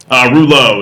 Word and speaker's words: Rouleau: that this is a deck how do you pronounce in your last name deck reloj is fine Nemo deck is that we know